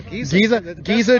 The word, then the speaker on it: Giza: Giza, did I pronounce that right? Yeah, Giza Dream.